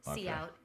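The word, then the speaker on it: cout: Character output see out pronounced easy to remember.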